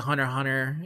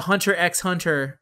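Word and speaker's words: Hunter × Hunter: the hunter x hunter always pronounced the x uh the hunter x hunter and yu hakusho co-lab i'm not gonna let them turn me into one of them said i'm going to always pronounce the x i don't give a what they say where they say it's just better to say hunter hunter you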